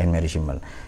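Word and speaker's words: Annemarie Schimmel: Jadi Anne Mary Schimmel. Tulisannya Anne Marie Schimmel. Nah, ya tapi cara bacanya Anne Mary Schimmel.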